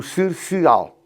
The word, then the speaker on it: Cercial: No Dão existe o Cercial, ambos feitos escritos com C de cão. E há o da Madeira, que é Cercial com S. É a terceira casta Cercial, todas se pronunciam da mesma maneira, mas ligeiramente com caracteres diferentes.